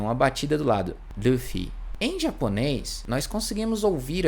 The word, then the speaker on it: Luffy: No caso do Luffy, no Nihongo, a gente vai ter um som que é com a língua mais próxima do L, mas ele também tem uma tremidinha, uma batida do lado. Luffy.